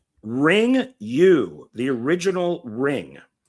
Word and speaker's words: Ringu: Ring You, the original Ring. Now, isn't it pronounced Ringu? Ringu, Ring You, F you. Well, yeah, because it's Japanese.